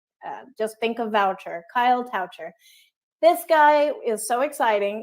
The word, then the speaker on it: Toucher: guest is Kyle coucher rhymes with voucher just in case you wondered if you see it voucher just think of voucher Kyle toucher this guy is so